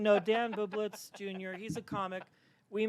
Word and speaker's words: Bublitz: do you say your last name no Dan bublitz Jr he's a comic we met um I'll